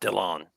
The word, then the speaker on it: Dylan: mean, it's pronounced Dillon.